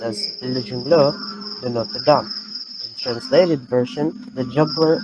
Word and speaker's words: Le Jongleur de Notre Dame: Its original title was Our Lady's Juggler, Le Jongleur de Notre Dame, pronounced as Le Jongleur de Notre Dame.